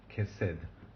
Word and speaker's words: chesed: Chesed, mercy, mercy. And this is a Segolate noun. It's accented on the first syllable.